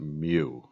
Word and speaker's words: mu: the greek letter mu and you you could pronounce it mu all right um and then let's i mean